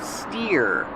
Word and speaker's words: steer: steer to the left pronunciation steer like here steering wheel this is